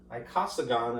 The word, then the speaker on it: icosagon: Anyhow, the 20-sided shape, Icosagon, I believe is how it is pronounced, but I will at least spell it.